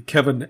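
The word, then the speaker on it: Cefyn: spell it and then kevin is c-e-f-y-n it's c it's pronounced k-e-v the y is like the i and uh even is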